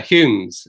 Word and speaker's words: Home: the the douglas uh humes uh uh the sort of descendants of that because the um uh the the the hume bit or home as as it's spelt it was actually a